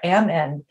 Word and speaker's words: Amend: I always say Amend because she's like, think about it. Kim is saying it. I'm at the end. So I'm Amend. And so every time I say her name, she like rolls her eyes. She's like, you don't have to stop in the middle of saying Amend.